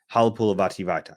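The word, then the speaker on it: Halapoulivaati Vaitai: So Halapulavati Vaitai, Halapulavati Vaitai, Halapulavati Vaitai. And I nailed the pronunciation, and Michael goes, spell it.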